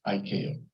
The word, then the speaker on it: ICAO: commonly known by our initials, ICAO, which we pronounce ICAO.